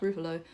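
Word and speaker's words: Ruffalo: and I think Mark I think it's pronounced rufalo uh I've never seen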